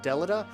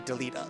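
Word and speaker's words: Delita: deleta and deleta because i always called him deleda uh but in this he's actually deleta like you actually hear the voice acting say his name so that that's a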